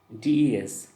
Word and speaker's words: des: The next one is des. We pronounce as they.